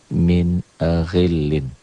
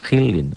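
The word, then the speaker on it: مِنْ غِلٍّ: Bacanya jelas tanpa ditekan, tanpa ditahan. Min ghillin. Ghi. Jangan gi, g. Jangan khillin. Ghi. Min ghillin.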